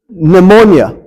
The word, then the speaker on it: pneumonia: It's pronounced pneuma, which gives us our word pneumonia. Okay? In Greek, the P is pronounced. In English, of course, it's silent.